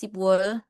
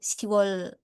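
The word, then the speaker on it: 시월: Nah ini ada, sorry ya ini typo harusnya ada ditambahin lagi sipwol. Ini sipwol. Cuma eh, bacanya tuh lebih ke siwol. Jadi B-nya tuh udah dihilangin.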